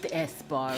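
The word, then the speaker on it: Sbarro: knew of Theo knew of the sabaro it's pronounced esaro he knew of the WB store and the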